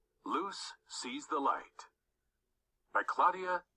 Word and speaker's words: Luz: Luz Sees the Light by Claudia Davila. Luz, pronounced Luce, and her friends enjoy listening to music and frequent trips to the mall.